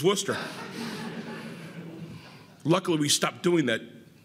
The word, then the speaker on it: Worcester: how to pronounce it I called it warchester and after 50 push-ups I knew it was Worcester luckily we stopped doing